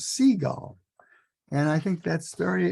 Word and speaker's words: Seigel: uh um I I asked uh I asked him how he pronounces his last name and he answered like the birds seagull and I think that's